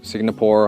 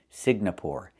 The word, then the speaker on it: Singapore: I cannot pronounce the country Singapore. It's not Singapore, it's Singapore. The NG makes a sound in your nose. Sing, like when you sing a song. Together, Singapore. Not Singapore, but Singapore. Singapore is a country in Asia.